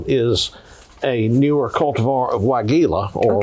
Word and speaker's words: Weigela: The other the other plant that I've got here is a newer cultivar of Weigela or Weigela as some people mispronounce it.